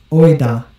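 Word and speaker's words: οἶδα: And if you don't know Greek, it will actually tell you how to pronounce the word. Oida. Oida.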